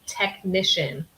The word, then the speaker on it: technician: have to send a technician? So remember, in English, this spelling of C-I-A-N often has a pronunciation like sh, sh, technician, technician.